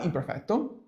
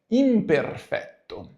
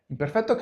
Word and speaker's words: imperfetto: into the very lesson why imperfecto or better the Italian pronunciation is imperfecto imperfetto comes from Latin itself